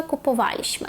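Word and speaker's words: kupowaliśmy: «Ходжіліщми, куповаліщми». Тобто в минулому часі, в другій та першій особі множини ми наголос ставимо на третій склад з кінця.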